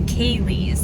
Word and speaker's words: Ceilidh: And that's one of the things that we're primarily psyched about, is going to the Ceilidh, and it's spelled Ceilidh. It confused the heck out of me when we first got here.